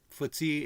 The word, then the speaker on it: FTSE: Um Year to date, FTSE is running ahead of the S&P 500. One year, S&P 500's doing better, 10% and the FTSE's up a little over 6.5%.